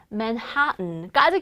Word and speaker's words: Manhattan: 그 다음 대표적인 Manhattan까지 기억해 주세요.